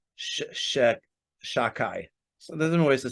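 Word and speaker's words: שדי: I'm going to say Shek Shakai. So there's different ways to say it. You can't say it in the way it's actually pronounced. So they say Shakai or Shadai. The real way is Shah Dai.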